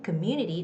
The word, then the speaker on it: community: industries in our community community the second syllable community has the stress have that have